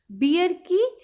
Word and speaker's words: bear: बेयर family. देखिए correct pronunciation BEAR यानी भालू। BEAR यानी भालू। इसकी करेक्ट प्रोनाउंसिएशन क्या है? बेयर। ठीक है, बियर नहीं पढ़ेंगे।